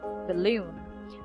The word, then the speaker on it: balloon: is balloon the balloon the first syllable isn't stress and stress balloon we don't say balloon balloon of